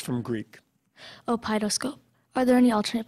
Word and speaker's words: opeidoscope: Opidoscope. Are there any alternate pronunciations?